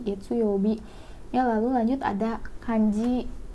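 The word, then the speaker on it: 月曜日: Jadi dibacanya getsuyobi, getsuyobi.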